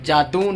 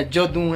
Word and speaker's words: Jadoon: अच्छा, जादून नहीं है, जदून प्लाजा।